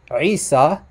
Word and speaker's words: Isa: Listen carefully to the pronunciation. It would have to be, now this would be Isa. Isa. And it's not Isa. Listen to that guttural ayn at the beginning. That's very important, and that's a huge